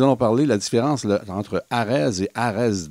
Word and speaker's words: AREDS: ça va être la formule ce qu'on appelle Arz on dit Arz mais c'ested avec un S donc àed bien prononcé ça veut dire agated high disease studies